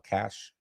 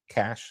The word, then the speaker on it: cache: I opened Patreon back up, so in order for you to get rid of that cache, is that how you pronounce it? Yep, cash.